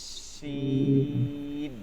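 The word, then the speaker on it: شين: সিনটাকে আপনারা কি করবেন, ইন্ডিয়ান যারা আছেন, বিশেষ করে ইন্ডিয়াতে যারা আছেন, তারা এটাকে বেশি বেশি করে ট্রাই করবেন। যারা আসামে আসেন তারা আরো বেশি করে, ঠিক আছে, তাদের উচ্চারণটা স এর মতন চলে যায়।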